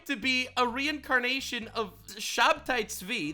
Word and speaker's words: Shabtai Tzvi: be a reincarnation of Shabtai Tzvi, that's his Hebrew pronunciation, a guy who, by the way, every single Jew remembers him as a bad guy.